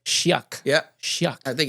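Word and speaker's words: Chiac: definitely was interesting so what's how do you pronounce again the dialect it's called Shak Shak yeah Shak I think it's c h a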